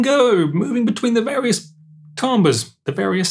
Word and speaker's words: timbre: You choose some timbres, some sounds.